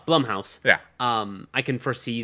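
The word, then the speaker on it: Blumhouse: that later um but Bloom house does horror I'm sorry I did it for years until I actually heard him say his name was Jason bloodman I went oh okay uh Blum House yeah um I can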